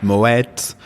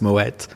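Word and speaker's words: Moët: pomi is one of the big ones with Moet uh we talked about it before it's pronounced Moet M Shandon um not Mo as everybody seems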